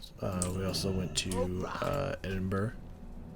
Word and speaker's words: Edinburgh: also went to uh edinburgh i think that's how you pronounce it i don't think it's edinboro but maybe this i don't know uh